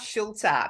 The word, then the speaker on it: Schulte: It's a German name, so you pronounce every letter, so it's Schulte, but it's Schulte.